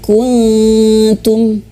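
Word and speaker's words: كنتم: Nah, maka persiapan ya, lidah kita itu sudah mau menyentuh tempat huruf pengucapan huruf ta. Kuntum. Nah, gitu. Sudah mau menyentuh. Wa in kuntum. Seperti itu ya. Jadi bukan hanya sekadar dengung, tapi persiapan ya.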